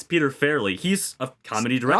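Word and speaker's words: Peter Farrelly: You said I think you butchered his name at the beginning. It's Peter Fairley.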